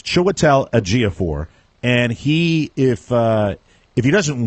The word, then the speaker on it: Chiwetel Ejiofor: The actor's name, and I want to make sure I pronounce it correctly, Chiwetel Ejiofor, and or Ejiofor, and I think it's Chiwetel Ejiofor.